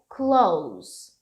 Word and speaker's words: close: close aqui, ó, então a pronúncia dele é close. Close. Não é esse verde que eu botei, não, Gabriela. É esse aqui. Close. Então, imagina que a gente tá falando um momento de pronúncia aqui e observa que é um sonzinho de S no final.